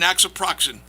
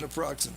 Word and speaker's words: naproxen: He was told to take painkillers like acetaminophen, ibuprofen, and nasoproxen. Did I pronounce it right? Who knows? Okay, and painkillers to get him ready for the next game. Naproxen, yeah. Okay.